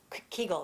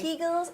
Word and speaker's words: Kegel: think the only thing that women knew was Kegel exercises okay and I pronounced that right yes um everything says differently some people take kegels okay kegels and I'll put the spelling up so that